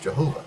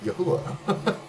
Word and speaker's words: Jehovah: in King James time, whenever you see Jehovah, it's not pronounced Jehovah. Like 400 years ago, they would have pronounced it Yahuwah. It's with the Y, and you replace the V with a U, and suddenly it's saying the same thing.